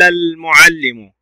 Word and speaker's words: المعلم: قال المعلم، المعلم، اللام هنا قمرية لوجود السكون لأنها تنطق، وكذلك أتى بعد حرف الميم من حروف اللام القمرية.